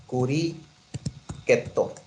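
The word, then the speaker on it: クリケット: कुछ और समझता है हमने क्रिकेट को प्रोनाउंस जापानी अंदाज में करना होगा होगा कुरी केतो य बन रहा सही तरी क्रिकेट ठीक क्या बन रहा है कुरी केतो शमी मना इसका क्योंकि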